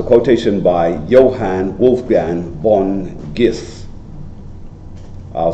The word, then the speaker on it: Goethe: It's a quotation by Johann Wolfgang von Goethe. I'll spell it for you. Johann, J-O-N-A-N-N. Johann Wolfgang, as it is, Wolf, then gang. Von, V-O-N, Goethe, or Goethe, G-O-E-T-H-E.